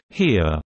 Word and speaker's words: Heer: Here Freiser wrote that the Heer German pronunciation, he, was not ready for Blitzkrieg at the start of the war.